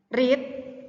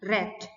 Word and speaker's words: read: Tulisannya sama, hanya saja cara melafalkannya berbeda. Kalau kata kerja pertamanya read, kata kerja keduanya bacanya read. Read, read. Nah, gitu.